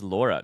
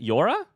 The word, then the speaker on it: llora: What is Laura? Does Laura mean cry? Yes, it does. Laura. It's probably pronounced more like Yora. Is it Yora? How do you pronounce it in Spanish? Llora. Yora. Lambert, I didn't know your kid was at daycare already.